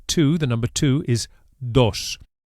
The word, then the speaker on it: dos: The Spanish D is actually softer than in English and is produced with the tongue flat against the gum ridge, against the top of the mouth, not the tip of the tongue as in English.